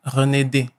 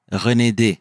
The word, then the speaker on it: Renedé: Alors, moi, j'ai mal prononcé ton nom de famille. Oui, c'est Renedé. Renedé.